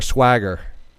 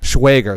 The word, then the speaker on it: Schwager: Oh, well, again, just to touch base, we have, I was toying with your name, if it was Schwager or Swagger. No, it rhymes with way, Schwager. Schwager.